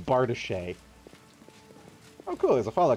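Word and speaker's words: bardiche: really cringy pronunciation youtube channels uh do you pronounce bardich bardish bardish yeah that makes sense i'm going to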